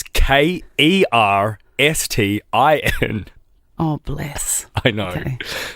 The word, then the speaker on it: Kerstin: Okay, so I'm expecting Kirsten. It was Kerstin.